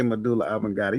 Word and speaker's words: medulla oblongata: Medulla oblongata. You did. D, You did say medulla oblongata.